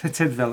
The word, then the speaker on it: Tydfil: Tidville. Apparently that's how you say it.